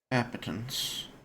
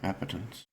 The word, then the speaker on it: appetence: Yeah, it looks like you're pronouncing it right. Appetance.